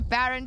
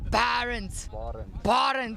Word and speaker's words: Barent: I'll chat to Baron, don't worry. I keep saying it wrong, hey? It's Barent. Okay, Baron, so what's the strategy today?